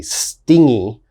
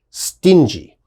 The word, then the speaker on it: stingy: the pronunciation first stingy a lot of my students mistakenly say stingy okay you got to be very careful it is pronounced stingy and what does stingy